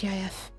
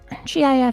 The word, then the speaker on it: GIF: I'm always gonna pronounce GIF as GIF. Because that actually... Yeah. I know! You know what? I'm gonna pronounce it as... Wait. I think I'd agree that GIF should be pronounced GIF. Gotta do this GIF image. If you're gonna pronounce it as a word, firstly, it's gonna have to be GIF because that's what the creator said, but I think what